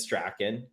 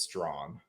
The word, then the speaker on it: Strachan: The proper Scottish pronunciation is Strachan. Okay. And a common pronunciation in Ontario is Strong. Strong. So yeah. just take so out there's famous Bishop Strong from the Toronto area, and then a street named after him in Toronto, Strachan Avenue. But Strand would be acceptable. It's just Strand.